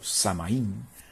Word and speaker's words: Samhain: El Samhain o Samaín, pronunciándolo como se escribe, era del 31 de octubre.